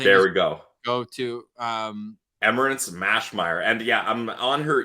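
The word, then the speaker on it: Emmerance Maschmeyer: before because I'm probably going to butcher the pronunciation of her name, and I don't want to do that. No, it's Emmerance Mashmeyer. I think there we go. Go to Emmerance Mashmeyer.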